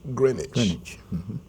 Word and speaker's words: Greenwich: was named after the green witch but it's pronounced Greenwich um we mentioned that there's father demo Square